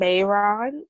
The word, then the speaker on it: Mehron: Yes, Snazaroo is spelled Snazaroo, and Mayron is spelled Mehron.